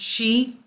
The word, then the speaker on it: Sidhe: The passage tombs or mounds called Sidhe, pronounced she, Sidhe, she, a pun with the